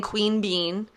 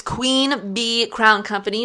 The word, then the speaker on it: Queen Bee Crown Company: Every time I say it, I sound like I'm saying Queen Bean. It's Queen Bee Crown Company.